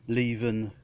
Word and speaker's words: Leven: Not a lot of people know that's how you're supposed to pronounce it, because that's where the company is based, in Leven, up there in the north of England somewhere.